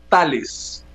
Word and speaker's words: Thales: que lidera el consorcio se llama tales y se escribe t h l ese es un nombre